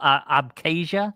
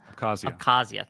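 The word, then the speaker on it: Abkhazia: They put and they took an interine conflict that was in South OSHA and um I can't pronounce Oh, abasia. Accazia.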